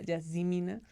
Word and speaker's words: Yazemmenah: Y está conmigo Yasmina, que en realidad se pronuncia Yasmina.